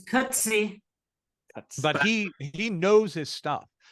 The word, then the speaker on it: Coetzee: Yeah, it's Coetzee.